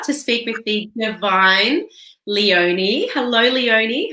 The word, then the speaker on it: Leonie: It's actually Leonie. I say it's like Princess Leonie.